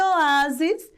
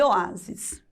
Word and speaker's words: oásis: E oásis também é paroxítona, porque o-a-sis, ela tem três sílabas e a penúltima, que é a mais forte, que é a letra a.